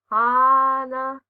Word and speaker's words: Hana: Sometimes they're cool nicknames, but more often they're things like Hana, pronounced like a neighing horse, because the girl's mouth looks like it's full of, well, horse teeth.